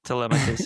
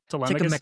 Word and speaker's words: Telemachus: he's really just, poor Telemachus, he's just trying to be a man.